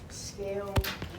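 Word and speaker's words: scalene: Scaline. Yeah, scaline is how we say that.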